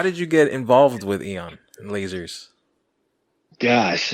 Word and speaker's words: Aeon: It's Aeon, not Aeon. Let's put this to bed. Right. Is the A silent? According to Webster's dictionary, right? It's the A is silent.